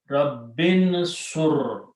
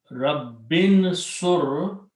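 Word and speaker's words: رب انصر: When you read them together, you do not pronounce this alif.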